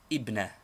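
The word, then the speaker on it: ابنة: It takes the 2 dots of the ta, thus ibnatun, daughter. But in speaking or in newspaper reading, this tanween is always dropped, as it is only a case ending, and the word is pronounced ibna.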